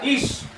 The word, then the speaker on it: Ish: En el hebreo, el nombre Adán se pronuncia Ish.